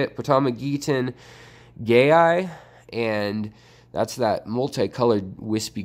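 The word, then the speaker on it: Potamogeton gayi: name up but that's how you say it pitama gettin gay I and that's that multi-coloured wispy grass with the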